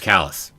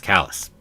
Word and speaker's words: Kallus: one i settled on oh it's kallus okay it's callous dang uh that's as